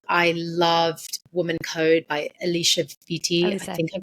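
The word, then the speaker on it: Alisa Vitti: I loved Woman Code by Alicia Vitti. I think I'm pronouncing her name correctly. Elisa Vitti, yeah.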